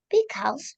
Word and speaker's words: because: I love going out to dinner with Lina because she always foots the bill. Good. Now, because, bacanya, not because, Because. tapi because or because. Jadi bunyi AU-nya bukan A, bunyinya O atau E.